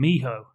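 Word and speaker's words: mijo: film it's dalton and he calls him miho on the call which is a contraction of me ho which means my son in spanish all right i'd say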